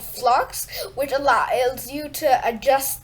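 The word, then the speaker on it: f.lux: like here so don't worry this is just flux and you could and it's spelled dot f dot lux but it's pronounced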